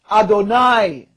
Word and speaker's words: Adonai: here's the quote um when Jews encounter cons the consonants of Yahweh yhh or y y he in in prayer they pronounce it Adonai okay and notice what